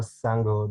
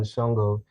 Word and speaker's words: Sango: of the sango coin i believe it's actually pronounced more sango than shongo and i do believe